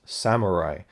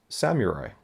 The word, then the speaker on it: samurai: something I've always done I've always just pronounced Samurai as Samurai as if it's spelled s-a-m-a-r-a-i I think it's a common mispronunciation but it's something I'm trying to trying to get better at and it just seems so obvious when I look at the word it's Samurai of course it is this is an